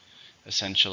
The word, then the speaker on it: essential: Essential is an adjective or a noun. There are 3 syllables. Essential. Stresses on the second. Essential.